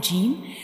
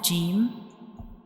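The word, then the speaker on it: جيم: To pronounce Jim, we touch the center of the tongue to the hard palate, like Jim, Jim, Jim.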